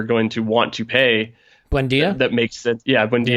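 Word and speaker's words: Buendía: So are they going to sell us Wineta or whatever? I can't pronounce the name correctly. Probably not for a price that Arsenal are going to want to pay. Buendia?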